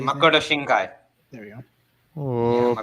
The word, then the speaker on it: Makoto Shinkai: Yes, Yeah, it's just made by the same guy who made the one he talked about, Makio Shinki. They say Makoto Shinkai. There we go. Oh, Yeah, pronunciation on point.